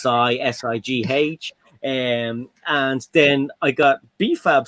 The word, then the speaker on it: Si: It's pronounced Sigh.